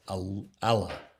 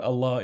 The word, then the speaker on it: Allah: a doubled l allah and emphasis on the second syllable right but i want to stress what allah is allah is not